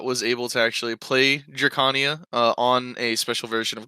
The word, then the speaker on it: Drakania: I accidentally keep saying Draconia too sometimes, because Draconian, but I believe it's Drakania.